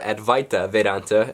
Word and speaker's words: Advaita Vedanta: Advaita Vedanta, or Advaita Vedanta, as it's pronounced here in America, is a really unique philosophy because it says that everything you know is wrong.